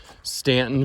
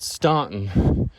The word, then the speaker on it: Staunton: just getting started here if you're from stanton virginia and i pronounce it stone because it's got a u in it you know give me